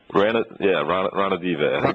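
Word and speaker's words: Ranadivé: Ranadive? Ranadive.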